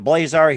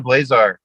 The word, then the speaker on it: Blazar: as well too once again jared fink of blazar here on the mike wagner show very multi-talented